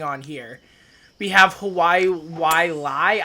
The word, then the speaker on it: Wailai: here we have hawaii why lie i think that's how you pronounce it it's w-a-i-l-a-i um can i just